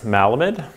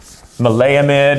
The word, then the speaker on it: maleimide: The next one is malamide. Maleimide, you hear it pronounced a couple different ways.